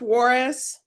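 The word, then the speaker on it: Juarez: And a J is like an H.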